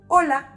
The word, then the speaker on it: hola: And those words starting with an H and A, they have the same pronunciation of A, because H doesn't make a sound in Spanish, just like the word hola.